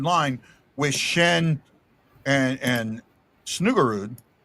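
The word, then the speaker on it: Snuggerud: off the third line with Shen and and Snugarude. Did I say it right? Snugarude.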